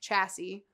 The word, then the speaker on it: chassis: a chassis which is spelled funny but it's pronounced chassis got an axle and it's got wheels so